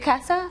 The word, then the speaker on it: Cassa: Is it Cassa? It's Cassa. Okay, yes, great. Like a house. Like actually. house. Like yes. house, exactly.